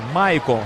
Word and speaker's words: Michael: Maicon, se escreve Michael, né? Isso. Mas a pronúncia é Maicon.